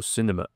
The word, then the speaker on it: cinéma: Bon, c'est presque la même prononciation qu'en anglais. Cinéma, il y a juste un accent aigu ici. En anglais, c'est plutôt cinéma. En français, c'est cinéma. J'ai fait aussi une vidéo sur les accents en français.